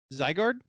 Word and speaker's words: Zygarde: Zygarde?